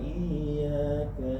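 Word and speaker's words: إِيَّاكَ: yaumiddin iyaka na'budu wa iyaka nasta iy iyaka iyaka agak sedikit ditekan iyaka iaka iya iya iya tah iaka jadi tahan kemudian tekan iyaka iyaka terus iyaka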